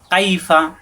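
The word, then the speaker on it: كَيْفَ: কাইফা, কাইফা কোনো টান নেই, কাইফা অর্থ কেমন, কাইফা কেমন।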